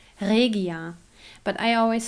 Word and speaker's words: Regia: If you're interested, the right German pronunciation of that company is Regia. But I always say Regia for you, that you know what I mean. But it's Regia.